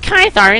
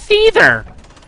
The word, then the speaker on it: Caesar: It's not pronounced Kythar, it's Caesar.